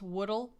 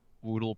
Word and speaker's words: Woodle: I assume it's supposed to be pronounced Woodle, as in, he's made of wood, but I think his name is Woodle.